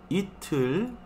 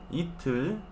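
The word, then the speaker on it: 이틀: Itul. Itul. ¿Recuerdan por qué pongo H? Solamente para distinguir pronunciación, ¿sí? Para indicar que esta T no suena como T en español, sino como T en inglés.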